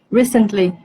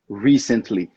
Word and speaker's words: recently: Recently. Good, good. Recently, recently. Porque algumas pessoas colocam a ênfase na próxima sílaba, recently. E não, é na primeira, recently, recently.